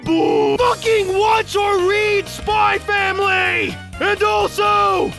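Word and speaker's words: Spy × Family: Fucking watch or read, SpyXFamily! And also, the X is silent!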